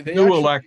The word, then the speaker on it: Nooelec: Yeah, they Nuelec is spelled Nooelec.